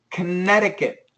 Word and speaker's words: Connecticut: Connecticut. Connecticut. Yeah, this C is silent. And we got it's a flap T actually.